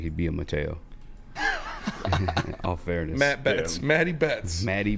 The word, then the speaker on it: Mateo: It's Mateo. It's Mateo. I'm pretty sure it's Mateo. Yeah. For sure? I know, like, Brazilian dudes. That's how they say it. I was listening to somebody say Matthew, though. I don't think that's correct.